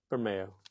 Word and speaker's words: Bermejo: Bermeo.